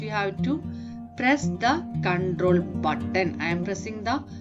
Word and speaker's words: Ctrl: CTRL is the short form for control. You have to pronounce as control.